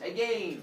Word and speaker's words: again: And that's where we find, and that's how we discover, oh, that's how you pronounce it as again, so that it rhymes with lane.